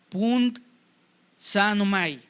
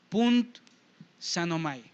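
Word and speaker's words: πυνθάνομαι: Quiero ver si la puedo pronunciar bien. Es pund sanomai. P-U-N-D-S A tildada N-O-M-A y latina. Punt sanomai.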